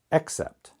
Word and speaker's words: except: sound here is ah the first vowel sound here is e now some native speakers may not pronounce them different L but you should accept except accept accept except okay